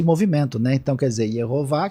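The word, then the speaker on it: יהוה: Então, quer dizer, Yehová, que é pronunciado Adonai, que vira Kyrios e Senhor.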